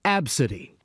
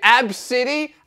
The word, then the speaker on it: ABCDE: post her boarding pass the girl's name is spelled ABCDE but it's pronounced AB City oh okay AB City and City that's not